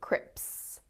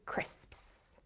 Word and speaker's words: crisps: you that one uh crisps is a notoriously difficult word for learners of english it's the s sound at the end crisps you'll find a lot of people mispronouncing them as crips crips when they should